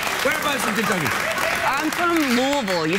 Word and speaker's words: Louisville: You can't say Louisville. You got to say ah. Exactly. Say it again. Louisville.